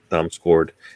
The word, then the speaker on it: Damsgaard: That's Damsgaard. How do you say his name? Damsgaard.